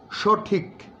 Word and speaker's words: সঠিক: যেমন সঠিক, কয়ের মধ্যে আবার একটা ছোট্ট ধাক্কা আছে।